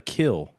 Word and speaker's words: Kiln: mispronounced it my bad it says pronounced the kill so kill Mississippi unincorporated community that sounds